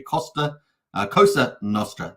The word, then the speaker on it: Cosa Nostra: So just say it correctly. Cosa Nostra.